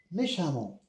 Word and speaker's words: méchamment: fréquente fréquemment il agit méchamment ou bien méchamment il agit méchamment L'adjectif c'est méchant, méchante, méchamment. Il a répondu intelligemment. Même si c'est écrit E, je prononce A comme ici, fréquemment, prudemment,